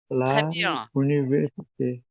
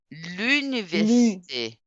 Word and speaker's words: l'université: l'université commence par voyelle comment on dit l'université l'université la université non l'université l'université et l'apostrophe commence par l'université royel oui donc on dit l'université.